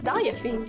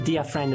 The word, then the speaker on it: Diafiend: Am I pronouncing that? Yeah, that is correct. Everybody always gets it wrong the first time. Good job. Diafiend? It's Diafiend. I know, yeah, but I also thought it was Dia Friend at first.